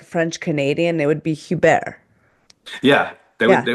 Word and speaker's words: Hebert: it's spelled Hebert, but it's like Hebert. So if you talk about like French Canadian, it would be Hubert.